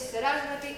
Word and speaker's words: Sarasvati: Prakriti, recordad que en sánscrito la mayoría de las palabras son esdrújulas. Es Prakriti, es Sarasvati, es Arjuna, es Asana, son esdrújulas, el acento en la tercera sílaba.